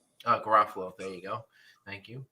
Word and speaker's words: Garofalo: gara follow if i say her name correctly ruffalo garofalo there you go thank you um i feel